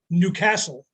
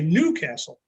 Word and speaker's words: Newcastle: were in newcastle or as they will say it newcastle newcastle emphasis on the second syllable we would say newcastle emphasis on the first there's a new castle